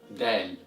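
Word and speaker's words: دال: So the eighth letter of Arabic is pronounced as Dal, Dal, Dal, and as always, repeat after me, Dal, Dal, Dal, and the sound of the letter Dal is equivalent to the letter D in English.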